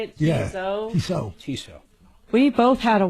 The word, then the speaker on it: Tissot: T I S O T. Is that how you say it? Tiso.